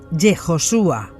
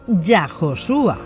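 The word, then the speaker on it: יהושע: Con Yehoshua, y no Yahoshua.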